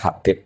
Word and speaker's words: Habib: Itu di harokatnya kitab itu ada yang nulis Hubeb, tapi yang benar, oh enggak, yang benar itu bacanya Habib.